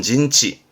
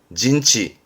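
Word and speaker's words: 陣地: 진지입니다 그 진을 치고 있는 지역을 말하는 진지 발음은 진치 진치 요거는 영자 진영 그죠 발음은 징에 징예 이것도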